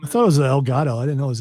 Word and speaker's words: Elgato: Yeah, I use the Elgato one. It's the best one. The problem I is thought it was El Gato.